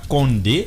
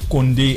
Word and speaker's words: Condé: c'est Condé maintenant prononcez bien c'est pas Condé c'est Condé le Président Mamadou Doumbia